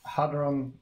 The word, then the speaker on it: hadron: And what is hadron? Hadron. Okay, so the name. What is the correct pronunciation? Hadron. Using hadron. Yeah, I'm pretty sure it's hadron. So without silent H, yeah, because like usually it's.